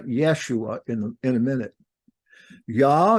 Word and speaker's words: Yeshua: you do that so Jesus name yosua was commonly pronounced Yeshua so as to avoid saying yah at that time now it's still pronounced Yeshua because you take those